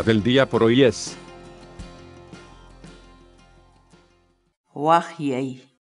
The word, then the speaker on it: waqyay: de videos en la que te enseñamos a pronunciar algunas palabras en quechua. Así que nuestra palabra del día por hoy es... Wajyei. Wajyei.